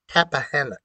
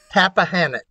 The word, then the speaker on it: Tappahannock: I was out in the country, but the closest town was, and the school system was in Tappahannock. In what? Tappahannock. Tappahannock. Yeah, if you pronounce it the way it's really originally, I guess it's Tappahannock, but okay.